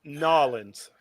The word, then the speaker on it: New Orleans: It's spelt Nolans.